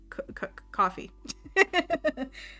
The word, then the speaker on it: Ko-fi: I've heard it said multiple ways. Ko-fi? Coffee.